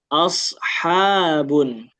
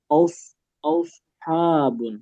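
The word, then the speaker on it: أصحاب: Sot itu bukan sin, tapi dia ee ee apa cara pelafalannya agak berbeda meskipun dia sama-sama SS juga, tapi agak berbeda. Nanti sifat-sifatnya juga ada beberapa yang beda.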